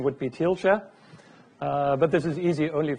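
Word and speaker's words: Thielscher: how to pronounce my second name the correct pronunciation would be teal Sherer but this is easy only for German speaking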